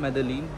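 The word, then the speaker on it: Medellín: फिलहाल इस वक्त मैं हूँ क्यूबा की हवाना एयरपोर्ट पे, और मैं फ्लाई कर रहा हूँ मेदेलीन actually. Double L Spanish में जे या वाई प्रोनाउंस करते हैं, डिपेंड करता है सिचुएशन पे।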